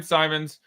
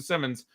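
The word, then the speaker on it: Simons: I'm not dithering anymore it's goddamn Simon's I went back because I said Simon's fears or nodes or to pronounce him and so it okay I'll change the Simmons and I found several sources and then I finally found him saying it so it's I'm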